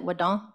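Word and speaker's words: Wado: in West Virginia and Widow is thank you in Cherokee so a lot of our elders my grandmother always pronounced it wood is how we would say it so um yeah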